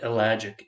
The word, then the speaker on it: ellagic: you're taking notes that's spelled e as in Earl l-a-g-i-c like magic but elagic e-l-l-a-g-i-c acid so it's a chemical